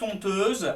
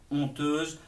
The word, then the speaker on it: honteuse: aspiré, parce que toute honteuse, le H, c'est un H muet, on pourrait écrire honteuse, O-N-T-E-U-S-E, on le prononcerait de la même façon.